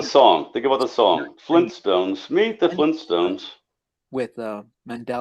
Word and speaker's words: Flintstones: So the way I remember it was Flynn Stones and now it's Flint Stones.